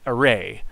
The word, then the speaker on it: array: you pronounce array wait array okay and so i think i think the emphasis is like this array or i don't know